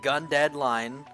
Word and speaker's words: GundeadliGne: uh it is pronounced gun deadline the g is silent don't ask me why